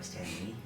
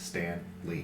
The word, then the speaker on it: Stanley: Oh, But first, I will attack this guy by Stanley. okay. Your +2. It's not Stanley, it's Stan Lee.